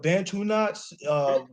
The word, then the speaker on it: Bantunauts: But when we spell it, we just put two words together, which is Bantu and Nauts, Nauts, like saying astronauts.